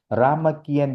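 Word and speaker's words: Ramakien: से जाना जाता है राम कियन ये थाई उच्चारण है अगर सही रूप देखेंगे कि यह है राम कीरति राम कीरति है बत राम कीन थाई का उच्चारण बन गया देखिए हमारे राम कियन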